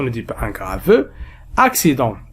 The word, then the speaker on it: accident: Nous avons accident. إذا كان لدينا حرفي سين متتاليين. في هذه الحالات التي سأتطرق لها اليوم، الأول ينطق بالكاف والثاني ينطق بالسين. أكسيدون، أكسيدون.